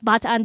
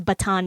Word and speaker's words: Bataan: when we were the Bataan Death March, which my history textbook told us to pronounce Bataan Death March. I was like, that's not how you say that.